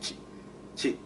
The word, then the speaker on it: Shang-Chi: not saying it correctly, because when we say Shang-Chi, we in English we kind of draw out the e, whereas in Chinese it's like chi, chi. It's like you just stop it.